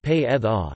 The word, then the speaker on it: Predrag: They are restricted mostly to loanwords and foreign names, such as the first name of former Real Madrid sports director Predrag Mijatovic, which is pronounced pe-eth-a, and after another consonant, the voiced obstruent may even be deleted, as in iceberg, pronounced i-theta-e-beta-e.